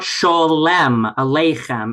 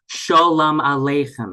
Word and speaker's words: sholem aleichem: It teaches authentic Yiddish pronunciation. It's not sholem aleichem. It's sholem aleichem. It's not Shabbos. It's Shabbos. Shabbos. It kind of approximates to a short s sound, but really this is